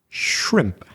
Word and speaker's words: shrimp: Our next example has two consonant clusters, one at the beginning and one at the end. Shrimp.